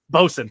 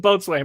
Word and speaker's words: boatswain: It's not pronounced. Bosun. Thank you. I was like, how is that word pronounced? I can't remember. Oh, sorry. Well, actually, it's not the boatswain. It's exactly. I knew it wasn't boatswain, but I couldn't remember